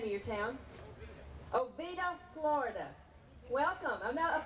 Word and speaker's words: Oviedo: Our next contestant is Philip Steinmetz from, pronounce the name of your town. Oviedo, Florida.